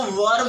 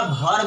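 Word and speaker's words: verb: इसको वर्ब बोलिएगा, वर्ब नहीं बोलिएगा। बहुत से लोग इसको वर्ब बोलते हैं, जो कि गलत प्रोनाउंसिएशन है। ये वी है, इसका साउंड वाव से या वो से आप करिए, ना के भौ से। डेट इज कम्प्लीटली रॉन्ग, ये गलत है, ऐसा हमें नहीं करना है।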